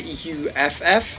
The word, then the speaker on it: uff: Instead of OOF, it's actually UFF, and it's pronounced slightly differently, but the base concept is the same.